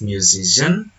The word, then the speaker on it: musician: The suffix "ian" attracts stress to the syllable immediately before it, resulting in stress movement from the first to the second syllable.